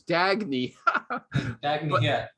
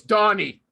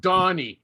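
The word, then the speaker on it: Dagne: thought her name was dagny it's donny okay actually there's no y it's just d-a-g-n-e d-a-g-n-e i thought it was scandinavian i have no idea okay okay okay yeah but now it's pronounced donnie okay and she understands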